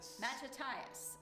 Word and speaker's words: Mattathias: I never remember how to pronounce the name, Bernie. Mattathias. Mattathias, okay.